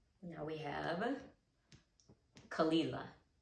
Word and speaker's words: Caol Ila: is the chick the chick now we have kalila kalila and finally we have blendy blending thanks for